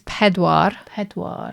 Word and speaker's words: pedwar: 4 is pedwar. Sounds a bit like Peter.